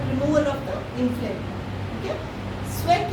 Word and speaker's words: Cvek: Sweck is CVEK. Yes, many of you mispronounce it.